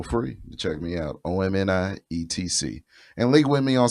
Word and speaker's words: OMNIETC: Spotify, OMNIETC, to be pronounced Omni, etc.